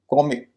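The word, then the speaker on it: comic: कुछ अंतर नहीं आया कॉमिक दो सिलेबल का शब्द है एडजेक्टिव है पहले सिलेबल पर स्ट्रेस है कॉमिक इसका उच्चारण आपको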